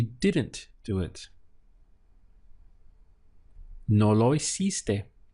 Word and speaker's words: hiciste: For that, we would say hiciste, hiciste. Let's break this one down, starting the pronunciation from here, E, and then hiciste, hiciste.